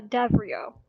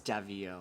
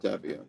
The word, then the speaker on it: Davio: who son he uh davo um she she looks down a bit oh it's davio I mispronounced that davio oh sorry I copied